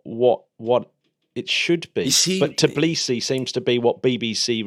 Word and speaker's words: Tbilisi: No, you often hear it pronounced as Tbilisi. Yeah. When you hear it on the television, but find it quite hard to actually get a definitive way of saying it. Like Tbilisi seems to be more what it should be,